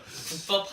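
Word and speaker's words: 꾹밥: 그 국밥 통통할 때 국밥 한끼 아 죄 무슨요 국밥 한끼 그 국밥이 아니라 국밥이 국밥 발음이 좀 어렵긴 한는데 국밥 이거 해줘야 돼요 그러면 꾸기 꾸기 국밥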